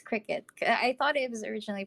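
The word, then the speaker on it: Cricut: was originally pronounced as cry cut but apparently not I watched some videos I watched some videos and they they called it a cricket so like okay like kind of like the bug but anyway yeah that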